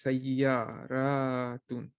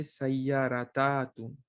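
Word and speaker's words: سيارة: So it says sayyaratun. You cannot say sayyaratatun. That is not good.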